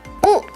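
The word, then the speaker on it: 雨: Dan ini cara bacanya adalah U. Cara bacanya adalah U.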